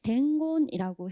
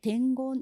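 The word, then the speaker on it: 伝言: 말 이렇게 되죠 그래서 정답은 4번의 덴곤이라고 해서 읽는 방법도 특이해요 말씀 언자가 곤으로 발음 나는 경우가 잘 없거든요 그런데 덴곤 이렇게 되고 전할 말 그래서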